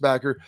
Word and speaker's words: BCKR: It's BCKR, but pronounced Backer.